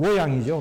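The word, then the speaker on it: 洛陽: 중국 발음으로는 로양이죠. 로양, 낙양. 바로, 이 낙양, 바로 그 낙이에요.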